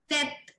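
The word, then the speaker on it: tête: Example है tet. Tet is head. अब यहाँ पे मैंने सिर्फ टी तक पढ़ा, ई मैंने साइलेंट कर दिया.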